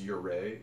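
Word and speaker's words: Ouray: I could do in august early August it's pronounced your ray is spelled like all ray it's in Colorado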